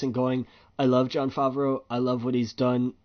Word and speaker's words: Favreau: Jon Favreau, or how do you pronounce his last name? Favreau. Since I'm terrible at names, Favreau.